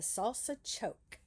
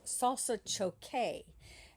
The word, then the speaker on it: salsa choque: Oh, and then 1845, we have another dance class, the Salsa Choke. So I looked that up, and it's actually pronounced Salsa Choque.